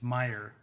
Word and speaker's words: Meyer: He had a character named Martin in a book that Scott Meyer, I got to pronounce it. I'm like, which way is it? It's Meyer, Scott Meyer, who's the author, wrote, who we also had on as a guest.